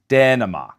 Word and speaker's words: Dänemark: As you can hear, this A umlaut is pronounced close to the vowel in English's bed and said, Dänemark.